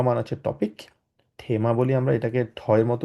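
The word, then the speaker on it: Thema: এটাকে বলা হচছে ডাস হয় আমরা বলি ডাসথেমা থেমা মানে হচ্ছে টপিক থেমা বলি আমরা এটাকে ঠয়ের মত উচ্চারণ করি থেমা ডাস ক্লিমা ক্লিমা মানে হচ্ছে বলা যায় হচ্ছে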